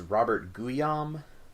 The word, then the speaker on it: Guillaume: Right, and it was hard for me to separate the next character that we're gonna meet, who is how do you pronounce this? Robert Guillaume.